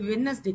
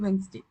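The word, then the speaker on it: Wednesday: ஸோ அது வெட்னஸ்டே கிடையாது, வென்ஸ்டே.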